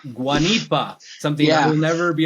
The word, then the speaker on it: Guanipa: how do you say your last name guanipa guanipa something I will never be able to properly